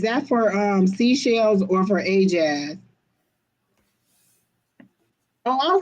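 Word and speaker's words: Ayejazz: When I asked her how to pronounce it, she just broke the two words apart and put A-Y-E and jazz. So Keena said hey, as it's probably pronounced A as in hey, so A-Jazz.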